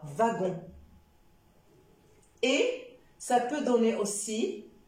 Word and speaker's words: wagon: son c'est la lettre W alors W c'est ça dans le sang veut comme wagon wagon d'accord wagon et ça peut donner